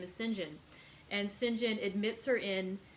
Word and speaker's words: St John: that if you see if it's the british pronunciation of saint john it is sinjin and so i've been